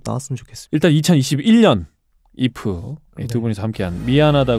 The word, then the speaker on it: 2F: 직접 참여를 했구요 예 이프 에 첫 번째 미니앨범 ei f 이프 지금 저희가 그 팀 이름으로 말한 잎은 에 숫자 2와 f 4 발음입니다 예 4 요 어떠한